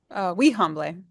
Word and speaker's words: Wihanble: Kite, do you want to correct how I pronounced that? Wihanble.